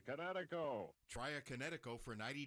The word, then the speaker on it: Kinetico: you should have remembered kinetic is in kinetic energy with an O on the end Kinetico try a kineo for